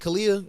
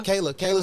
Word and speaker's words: Kayla: Kalia? Is that how you say it? Kalia Simone. Is that's my girl? Kayla Simone. Yeah.